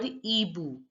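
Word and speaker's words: hibou: called Ash in French Ash Ash stands for Ebu EBU now here the age is silent it's not pronounced and I is pronounced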